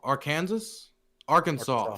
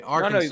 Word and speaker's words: Arkansas: Arkansas. Fuck, I did it again. Okay, Arkansas.